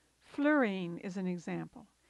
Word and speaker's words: fluorine: Fluorine is an example. It's often pronounced fluorine, but I believe the preferred pronunciation is fluorine.